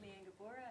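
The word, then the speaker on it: Liane Gabora: next up is if I say it correctly Le lean you're up uh my name is lean gabora and I'm at the University of colia and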